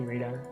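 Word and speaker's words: Rida: Rita um please just call me radar Rita spelled like r-i-d-a what a nice name I am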